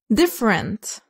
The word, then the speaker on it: different: Different. معظمكم بيعرف معنى هذه الكلمة وهي مختلف. Different. لا نقول different. الإي بعد الأف لا تلفظ. Different.